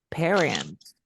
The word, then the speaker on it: parents: Ahora, ya no suena como una A, suena como una E. Mira, di parents.